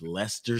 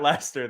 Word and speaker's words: Leicester: the morning to watch Leicester City soccer and notice how much R there was in that Lester there Lester no Celesta Leicester I was a little